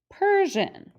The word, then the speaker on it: Persian: code on this word so we have per s i says sh a n says and per jan persian okay so those are